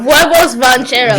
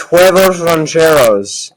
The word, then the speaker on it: huevos rancheros: Next one we got huevos rancheros. You're pronouncing it wrong. It's huevos rancheros.